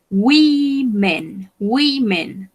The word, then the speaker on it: women: Y si yo quiero decir mujeres, yo digo women. Esta O se pronuncia como una I.